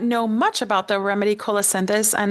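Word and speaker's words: colocynthis: Joet, for those who may not know much about the remedy colacendis, and it's spelled C O L O C Y N T H I S.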